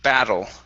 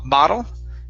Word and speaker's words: battle: one is the word battle uh right here so instead of ba bottle okay battle battle okay nice job very good